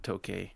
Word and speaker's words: tokay: The tokay geckos, they're named tokay because they make the sound tokay, essentially.